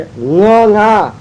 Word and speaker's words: ङ: तो अंगा नहीं है, ये ङ, क ख ग घ ङ, वहाँ और लगाने की जरूरत ही नहीं है।